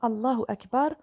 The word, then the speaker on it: Allahu Akbar: Ici, Allah étant sujet de la phrase Allah est le plus grand, il prend donc la flexion du nominatif qui se marque par l'ajout de la voyelle brève ou, prononcée ou, à la fin du mot.